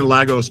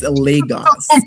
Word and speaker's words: Lagos: I've been saying Lagos my entire life and no one's ever corrected me. I'm saying it wrong. Yeah. It's Lagos.